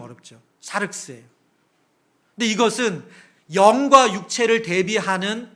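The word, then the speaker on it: σάρξ: 발음이 좀 어렵죠. 샤륵스예요.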